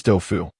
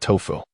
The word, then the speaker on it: Dofu: My name is Dofu, not Tofu."